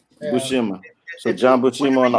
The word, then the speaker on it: Buscema: Is it Buscema? Is that how you pronounce it? John Buscema. Buscema. I say Buscema. Yeah. Buscema.